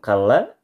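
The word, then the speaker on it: كَلَّا: Adapun kalla, lam tasydid, huruf tasydid pada lam, cukup ditekan saja. Kalla.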